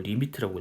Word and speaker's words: lim: 그래서 이렇게 쓰는데 요거를 이제 식으로 또 어떻게 표현할 거냐면 얘를 식으로 이거 똑같은 말인데 여러분 자 이렇게 lim 이걸 리미트라고 읽어요.